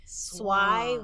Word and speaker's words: Svay: Like Swai with like why with an S, Like Swai, like why?